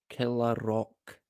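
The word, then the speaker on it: Kilravock: there's the name there it looks like kok but I think it's pronounced kerok killer killer Rock is how it's pronounced I'm sure kill a rock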